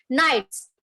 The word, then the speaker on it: knights: now the k is now you are not going to pronounce the k it is just pronounced as knights not pronounces d is